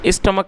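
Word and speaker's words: stomach: दोस्तों यह जो वर्ड है आप इसको सही से प्रोनाउंस करना सीखें। एस टी ओ एम ए सी एच। स्टमक का मतलब होता है पेट और ए सी एच ई।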